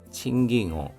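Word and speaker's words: 賃金: 의교인노 칭깅 칭깅 wenn 임금입니다. 금이 여기서는 깅으로 발음이 됩니다.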